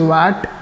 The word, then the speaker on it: watt: इट्स SI unit is वैट और वॉट. कुछ लोग वैट बोलते हैं और कुछ लोग वॉट बोलते हैं, दोनों सेम ही है.